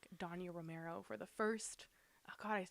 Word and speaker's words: Dania Romero: I'm gonna say Dania Romero.